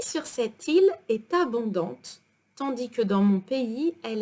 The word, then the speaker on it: tandis: Now, tandis que. The S is silent at the end of tandis.